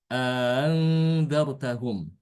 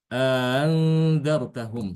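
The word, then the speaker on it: أأنذرتهم: Ada menambahkan alif di antara kedua huruf hamzah tersebut dan dibaca panjang berarti dua harokat ya. Jadi nanti dibacanya andzartahum, andzartahum seperti itu.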